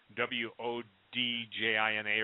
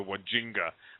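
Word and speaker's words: Wandjina: And it's the, I think Stan corrected my pronunciation, Deo did, but it's called the Wodjina, W-O-D-J-I-N-A or something. I used to call them the Wajinga, but it's a Wodjina.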